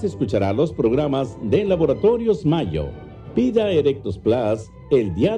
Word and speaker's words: Mallo: Y Laboratorios Mayo se escribe como gallo. LLO Laboratorios Mayo.